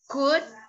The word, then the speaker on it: could: In these words, the letter L is a silent letter. Wood. No me digan wool. That's incorrect. Could and should.